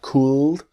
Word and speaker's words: could: The L is silent. So it's not could but could.